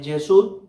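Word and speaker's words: יָסַד: Su pronunciación es Yesud.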